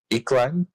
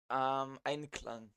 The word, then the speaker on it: Einklang: of the song well, Iklang. I don't think I'm pronouncing that right. Einklang. Inklang. Okay, thank you.